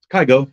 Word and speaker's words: Kygo: Fresh now did I say his name right kygo yeah yeah but I want to say